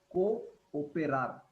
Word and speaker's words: cooperar: cooperate you can uh the trick is to break up as per the syllable cooperar that is the way that is how you should break it up cooperar to cooperate can